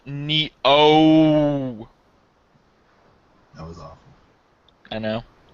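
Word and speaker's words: Nioh: Sam killing demons so it's it's it's it's pronounced Neo that was awful I know that was she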